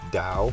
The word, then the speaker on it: Tao: system in health's paradise is tau or dao which is more correctly pronounced but for now i'll